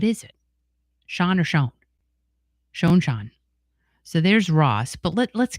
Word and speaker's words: Schon: new one so many times about how I pronounce Neil's name. So what is it? Schon or Schon? Schon.